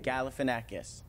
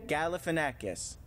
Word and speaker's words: Galifianakis: Galifianakis. Say it again. Galifianakis.